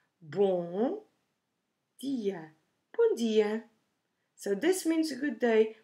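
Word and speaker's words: bom: to some pronunciation tips when we say born which means good we don't actually close our lips at the end of the words to do it a M sound the M it's there just to make the previous vowel nasal so don't close your mouth pronouncing this word boom yeah Pandya so this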